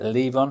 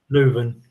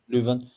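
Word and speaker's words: Leuven: Is it Leon? However you pronounce it. Luven. Luven.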